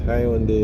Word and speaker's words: Hyundai: the Hyundai dealership and I think in Jamaica we pronounce high on the a very unique way there's a very nice ad about it on TV the way Jamaicans pronounce it I only know it as high on the but there is another pronunciation elsewhere okay um on the